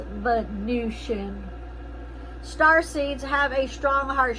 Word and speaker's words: Venusian: It's spelled like it's Venus, like a venison, a deer. Venison, but it's actually pronounced Venusian.